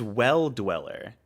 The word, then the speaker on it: Well Dweller: This game, I still don't know how to pronounce that. Oh, that's a D. It's Well Dweller.